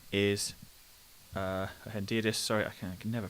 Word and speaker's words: hendiadys: Okay, so just to redefine for you very clearly, Hendiades is Hendiadys, sorry, I can never pronounce it correctly, is where two nouns either side of and instead of noun plus adjective.